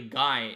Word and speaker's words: Guy: which is pronounced usually Guy in English, like Guy Fawkes. But is Guy in French.